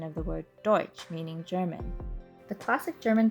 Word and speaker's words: Deutsch: The restaurant was probably owned by German immigrants who in those days were oftentimes mistakenly called Dutch, a mispronunciation of the word Deutsch, meaning German.